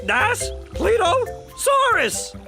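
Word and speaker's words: Daspletosaurus: Das Pletosaurus. Das Pleosaurus.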